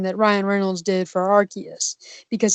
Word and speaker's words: Arceus: Ryan Reynolds did for Arceus because he didn't say Arceus he said Arceus yes it's not Arceus it's flipping Arceus I will fight anybody who says Arceus I okay we're gonna